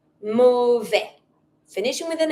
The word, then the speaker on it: mauvaise: If you want to make that feminine because you're talking about something that is feminine, you're going to write your E and then you're going to pronounce your S.